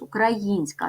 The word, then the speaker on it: українська: ділимо на склади укракраїнська ставимо наголос українська наголос падає на третій склад називаємо приголосні звуки к